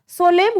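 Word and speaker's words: solemn: verb है आगे चलो सोलम सोलम एन साइलेंट रहेगा सोलम होता है सत्य निष्ठा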